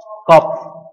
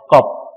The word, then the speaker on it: Kopf: Kopf. The P has to be pronounced. Kopf.